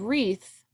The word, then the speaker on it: wreath: to celebrate spring and the word wreath has a silent W today you can either